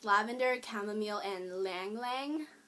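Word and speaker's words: ylang-ylang: it's lavender chamomile and Lang Lang it's spelled with a Y um it's a weird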